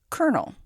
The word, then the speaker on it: colonel: is an offensive slight colonel anyone who has come across this title can agree that the word is a strange one c-o-l-o-n-e-l what is that middle l doing there the etymological origins of